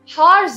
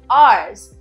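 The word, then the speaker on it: hour: हैं इट्स टू आर्स आर्स हार्स नहीं आर्स तो उसका प्रोनाउंस एशन जो है हम आर्स में करते हैं बट उसका spelling H ओ यू आर होता है which is are right so इसके अंदर भी एच आ आता है बट हम एच को साइलेंट रखते हैं राइट नेक्स्ट इज हायर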